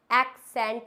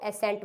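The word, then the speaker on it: accent: इसको एक्सेंट बोलते हैं, बट फ्रेंड्स ये दोनों ही वर्ड्स गलत होते हैं। ना तो हम इसको एक्सेंट बोलते हैं, ना ही हम इसको एसेंट बोलते हैं। इसका बेस्ट प्रोनाउंसिएशन जो है, करेक्ट प्रोनाउंसिएशन जो है वो है एक्सेंट। क्या होता है? इट्स एक्सेंट।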